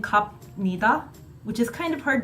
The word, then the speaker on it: 갑니다: a 비읍 there, but why does it sound like you're saying 미음, 갑니다? That's not a 비읍 sound. And you're right. This is a Korean pronunciation rule. That 비읍, combined with the 니은 after it, the 비읍 and the 니다 after, combine to make a 미음 sound.